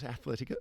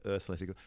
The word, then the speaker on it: Earthletico: It's Earth like planet Earth. Yes. Yes. Um not Athletica. Earthletico.